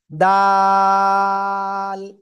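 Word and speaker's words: دال: জিহ্বার আগা উপরে দুই দাঁতের গোড়ায় লাগান, লাগান লাগান, লাগিয়ে তিন আলিফ টানে উচ্চারণ করেন, দাল।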